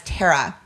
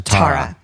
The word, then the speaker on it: Tara: always happen as well i have introduced myself as tara numerous times and they'll go right back to tomorrow because they're not listening